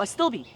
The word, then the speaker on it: astilbe: Did I say it right? I don't know what this is. Astilbe? Oh, a stilby. Yeah, astilbe. Yes.